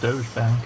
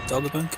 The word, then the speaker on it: Dogger Bank: I think it's pronounced Doge Bank, isn't it? No, Dogger Bank. I don't think so. I must have read it wrong somewhere.